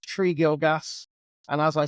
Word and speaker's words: Tregilgas: name is gilgas it's pronounced tree gilgas and as I said